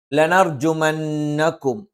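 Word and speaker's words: لَنَرْجُمَنَّكُمْ: ഇവിടെ സുക്കൂനുള്ള മീമിന് ശേഷം വാ വന്നാൽ വാവും മീമും രണ്ടും ചുണ്ടിൽ നിന്ന് വരുന്ന അക്ഷരങ്ങളായതുകൊണ്ട് മീമിനെയും വാവിനെയും വ്യക്തമായി ഉച്ചരിക്കണം. ലയർജുമന്നകും ലനർജുമന്നകും ലനർജുമന്നകും. അപ്പൊ മീമ് പൂർത്തിയായി ഉച്ചരിച്ചിട്ട് മാത്രം വാ ഉച്ചരിക്കുക. അല്ലാതെ ലയർജുമന്നകും എന്ന് പറയുമ്പോൾ മീമ് കംപ്ലീറ്റ് ആയിട്ട് ഉച്ചരിക്കില്ല.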